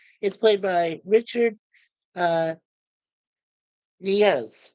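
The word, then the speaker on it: Yniguez: played by Richard uh NZ or nigz yeah nigz right the why is silent and then uh Dana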